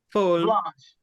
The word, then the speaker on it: Folle Blanche: the most, I think it's a blend of Folle Blanche. Am I saying that right? And Chardonnay. Whole. So I said it wrong. Folle. Folle Blanche.